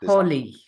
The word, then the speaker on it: Holi: How do you pronounce this? Holy. Holy.